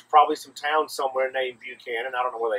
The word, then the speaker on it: Buchanan: some town somewhere named Buchan and I don't know where they are but in Georgia we don't pronounce it that way we prompt it Buchan because buck is cooler than puke so uh Buckhannon is